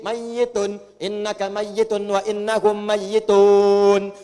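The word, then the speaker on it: مَيِّتٌ: Pakai tasdid mayyitun.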